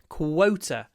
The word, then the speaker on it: quota: quota for this month quota to get this word qu you've got to lower your chin or jaw qu quot qu qu